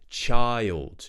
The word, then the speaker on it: child: child child y child you may find there's also this Phantom Y sound happening in here it's just because it helps us get from the I to the L so we create this I can you hear that Y sound it's not in the phonetics but it's actually something we do child child every child